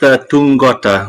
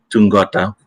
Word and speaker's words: Tuqota: It's pronounced Tungota. There's a little sort of like a hidden NG at the TU. So Tungota.